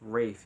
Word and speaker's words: Ralph: Cross and I'm told his name is pronounced Rafe even though it's spelled Ralph Wraith finds and I